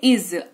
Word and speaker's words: is: लेकिन उ उच्चारण इसका इज होता है ज के ऊपर जो है ज के नीचे जो है वो नुक्ता रहता है ज ऐसा वाला साउंड आता है तो इसको देखो पढ़ते